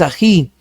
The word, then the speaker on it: ají: Ají no es ají, es ají. Sílaba tónica en ji, que termina en vocal, lleva tilde. Anís no es anís, es anís.